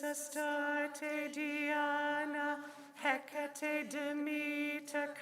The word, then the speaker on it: Demeter: So before we begin, I'll give you the quick pronunciation lesson. Isis, Astarte, Diana, Hecate, Demeter, Kali, Inanna.